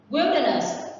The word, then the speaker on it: wilderness: Wilderness. Remember this one. You can say wildlife or wild, but when you say vùng hoang dã, it means wilderness. And the stress is on the first one.